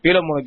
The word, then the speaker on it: பிலமோன்: காரணமாக அவைகளை சரியாக உச்சரிப்பதில்லை எனவே பிலமோன் என்று பின்னால் உள்ள யாரோ ஒருவர் கூறினார் அதுதான் சரியான உச்சரிப்பாகும் முதலாம் வசனத்திலிருந்து ஓர் இரண்டு